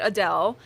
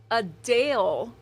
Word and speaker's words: Adele: all these years so while many pronounce it like I just said Adele the singer says it's actually a Dale a Dale so she